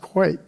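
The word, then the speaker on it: quaich: In Scotland, these are called, it looks like quash, but it's pronounced quake. Everybody know what a quake is?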